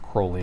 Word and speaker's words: Crowley: And it is pronounced Crowley. It's Aleister Crowley, not Crowley.